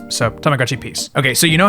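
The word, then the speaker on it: Tamagotchi P's: P apostrophe s so for English speakers it's pronounced like Peace So Tamagotchi peace okay so you know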